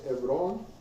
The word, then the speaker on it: Hebrón: Ah, no se pronuncia la H. Hebrón, Abraham, Isaac.